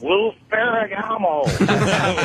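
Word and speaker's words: Lou Ferrigno: I just wanted to let you know you're pronouncing it wrong. It's Lou Ferragamo.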